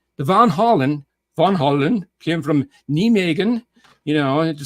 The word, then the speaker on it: Nijmegen: Van Halen, the Van Halen came from Nijmegen, to say it in the proper Dutch pronunciation.